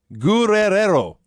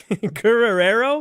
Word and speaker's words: Guerrero: spelled in the graphic hector gurrero guerrero there's a several extra rs in there wow yeah hector looked